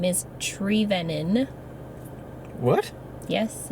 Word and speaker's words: Trevenen: gonna be technical about it I just say trevenna because it's easier because people have a hard time saying it my last name is tree venon what yes it's pronounced tree lennon i used